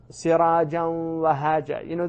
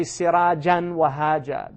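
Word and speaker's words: سراجا وهاجا: So, sirajan wahaja. They don't know that's idgham. But they don't say sirajan wahaja. They don't pronounce that noon.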